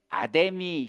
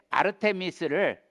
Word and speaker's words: 아르테미스: 성경에 아데미 신전이라고 나옵니다.이 이 아데미는 어 원래 아르테미스를 우리 옛날에 한국 사람들이 발음이 잘 안 되니깐 아르테미스 아데미 요런 식으로 줄여 불러서 우리 성경에는 아뎀이라고 기록되 있는데 원래 말은 아르테미스입니다.